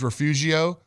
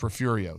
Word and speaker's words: Refugio: the press conference hey it's actually not pronounced the way it's spelled you know phonetically it's refed it is Refugio but it's pronounced refurio so anyway I didn't